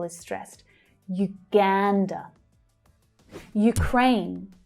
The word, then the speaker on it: Ukraine: Ukraine. Again, we have that U pronunciation. Ukraine. The second syllable is the stressed one. Crane. It's the A as in day vowel sound.